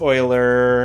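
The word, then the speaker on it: Euler: pronounced before because it obviously isn't pronounced the way that it looks I feel like Oiler is the classic version of that that you run into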